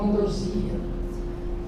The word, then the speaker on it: ambrosia: Palavras que admitem dupla prosódia. Se você disser, correto. Se você disser xerox, correto. Acrópa, não é? Hieróglifo hieroglito, correto. Sangão ou zangão, que é o marido da abelha, né? Zangam ou zangão estão corretos. Oceânia ou oceania estão corretos. Ambróia ou ambrosia, né? Reptil ou reptil. e projétil projetilo. As duas formas estão corretas.